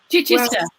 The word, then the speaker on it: Chichester: or something like that local people say chai which i said cheese when i first moved here don't try